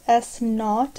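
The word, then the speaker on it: s₀: thrown into the air from a height of s knot is how it's pronounced above the ground with an initial velocity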